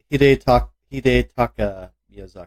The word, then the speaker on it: Hidetaka Miyazaki: Critics' Choice Award, Red Dead Redemption 2, Lifetime Achievement, Hidekata Miyazaki from Software. He's the Dark Souls guys. Hidetaka Miyazaki. Thank you. I'm bad at pronunciations.